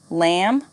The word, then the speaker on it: lamb: me knife knee no silent B thumb lamb climb repeat after me thumb lamb